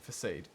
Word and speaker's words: facade: leaning towards her being it's an S not a hard C facade facade facade facade that's